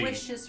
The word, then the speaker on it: Aloysius: Aloysius rhymes with Yes, delicious.